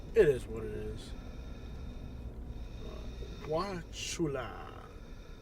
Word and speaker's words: Wauchula: Wula. Wula the U is silent in the pronunciation of this town.